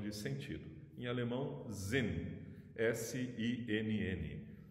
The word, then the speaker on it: Sinn: Em alemão, Sinn, S-I-N-N. Parece o sin do inglês, que é o pecado, né? Até alguns filósofos fazem piadinha com isso, mas em alemão se pronuncia Sinn, S-I-N-N.